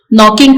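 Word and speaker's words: knocking: silent letters को देखा नॉकिंग का के साइलेंट है ऑफ का टी साइलेंट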